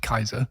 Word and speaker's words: Caesar: from caesar include kaiser because it would have been pronounced kaiser yes by the um romans and tsar okay all